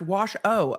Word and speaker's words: Washoe: motion and the affidavit Washoe is pronounced wash oh okay thank you it's spelled shoe it's like washu s-h-o-e English is such a funny language wash oh why not just spell it wash oh then oh why